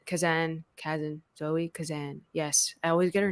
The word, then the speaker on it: Kazan: well while watching it so I love Zoe cazen kazen cousin Zoe Kazan yes I always get her name wrong and uh Carey Mulligan together they have